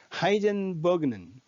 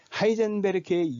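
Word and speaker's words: Heisenberg: 네 번째, 미국의 시리즈물 브레이킹 배드의 주인공 월터 화이트가 사용하는 가명 하이젠버그는 하이젠베르크의 영어 발음입니다.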